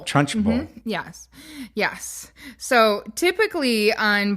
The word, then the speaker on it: Trunchbull: Now, I'm familiar with Principal Truncheon. Is that how you say it? Trunchbull.